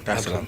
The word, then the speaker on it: Dar es Salaam: of the 7th, to come straight to Tanzania, Dar es Salaam. Did I pronounce that right? Yeah. Dar es Salaam.